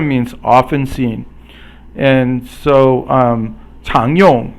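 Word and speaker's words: 常用: And so 常用 is rising tone, which is the second tone, and yong is the fourth tone.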